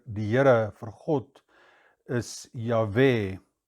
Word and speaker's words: יהוה: Lord God is יהוה (yah’weh) When one pronounces it in Hebrew then it is two soft sounds of which neither your tongue nor your lips move. It’s a breath in and a breath out.